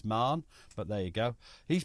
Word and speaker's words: Mahon: leftenant General sban Mahon whose name I can't pronounce I'm told it's manah but there you go